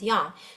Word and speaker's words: yang: And it says here that the standard Chinese pronunciation is usually the level first tone is yin, with the meaning shady or cloudy, shelter and shade. Sunny is always pronounced with the rising second tone as yang.